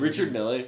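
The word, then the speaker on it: Richard Mille: those Richard me what is how do you pronounce his name? Richard Millle. Yeah, Richard Mills are so ugly.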